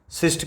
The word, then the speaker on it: schist: फिर दूसरा आपका हो गया शिस्ट, सिस्ट की स्पेलिंग होती है SCHIST, सिस्ट से बना हुआ है।